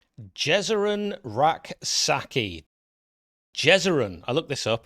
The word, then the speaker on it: Rak-Sakyi: And also, Rak-Sakyi, which, by the way, I'm reliably informed that is the correct pronunciation because it is spelt Rak-Sakyi.